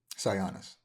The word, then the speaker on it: Sionis: in issue 3 where there's like how do you pronounce his name? Sionis? Sionis.